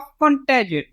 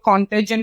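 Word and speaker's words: contagion: Okay, कई लोग कॉन्टेजन भी बोल देते हैं, वो भी सही है. ओके, अलग अलग लैंग्वेज में अलग अलग इसका प्रोनाउंसिएशन है.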